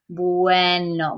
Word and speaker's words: bueno: pronounced to do and here we have boo a no now just like in English so everything gets kind of stringed together so that boo n no it's not very robotic its bueno but if you say it